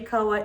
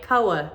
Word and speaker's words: Koa: to just welcome baby koa into the world that's how you say his name by the way koa koa rhymes with noah koa a lot of